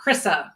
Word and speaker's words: Kryssa: asked you got it it's phonetically Chrissa yep you got it